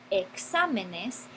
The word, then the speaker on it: exámenes: Entonces, cuando formamos el plural, exámenes, entonces ahí la palabra se convierte en estrújula con el énfasis sobre la antepenúltima sílaba y es necesario añadirle una tilde.